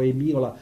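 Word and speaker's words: hemiola: Eliminazione dei fattori comuni, e un nome strano che si scrive Emiola con la H davanti, o si pronuncia o Emiola o Emiola, no?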